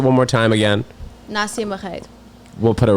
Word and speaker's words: Marreiro: Can you pronounce it one more time again? Nacya Marreiro.